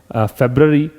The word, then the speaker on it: February: इसको प्रोनाउंशिएट किया जाता है फेब्रवरी, और ऑन का प्रयोग